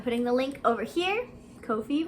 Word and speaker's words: Ko-fi: the link over here Kofi rhymes with no fee give me some mint